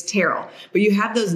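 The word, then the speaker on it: Terrell: like it's Terell Owens it's not Terell it's teral but you have those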